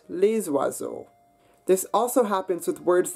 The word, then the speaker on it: les oiseaux: However, if your noun that follows that word starts with a vowel, as in oiseau, meaning birds, that S does get pronounced, so we get les oiseaux.